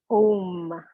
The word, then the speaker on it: Om: So Om, O-M, or sometimes you'll see it A-U-M, and we'll pronounce it today. We'll go A-O-M, we'll break it up into 3 parts.